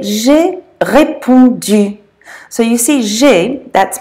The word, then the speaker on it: répondu: So that's pronounced répondu. Répondu. Now I'm just going to take a break here and I'm going to slip in something about that sound U, because that's a hard one for English speakers to say.